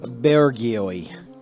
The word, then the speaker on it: bourgeois: In French, the last letter is never pronounced. So, bourgeois.